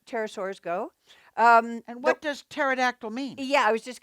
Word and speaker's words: pterodactyl: you know this one it's the pterodactyl not Panera dactyl no no pterodactyl right and these are small as Tara Soze go pterosaurs go and what does pterodactyl mean yeah I was